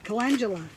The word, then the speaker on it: calendula: Calendula. That's how you say it, calendula. Like I said, I'm just learning. I'll get it. It just popped into my head. Calendula, not calendula.